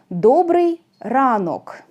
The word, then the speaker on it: добрий ранок: this O is not under stress, it is pronounced like A. Доброе утро. In Ukrainian, доброе утро will be добрий ранок.